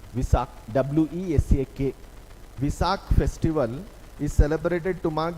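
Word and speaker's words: Wesak: name of the festival see how it is pronounced Visa w-e-s-c-a-k visakh Festival is celebrated to Mark the birth of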